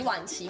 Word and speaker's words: Wan-Chi: Hold on Why don't you just say it My name is Wan-Chi, simple And Wan... pronounced the third tone Wan-Chi -Wan-Chi Her parents picked some name for her And which Chi?